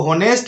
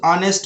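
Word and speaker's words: honest: इसको होनेस्ट नहीं बोलना है, इसको ऑनेस्ट बोलना है।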